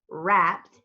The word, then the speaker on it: wrapped: The W silent, and we hear the R. That's why it's wrapped.